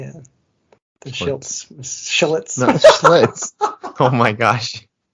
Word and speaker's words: Schlitz: I didn't even know how to say it. Schlitz. Oh yeah, I watched all the commercials. I know called Schlitz. Yeah, it was just a little mix-up of the L and the I there.